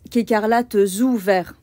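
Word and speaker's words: écarlates ou verts: feu voyez qu'il faut bien faire attention à la liaison on prononce quécarlat ou vert d'accord donc ça c'est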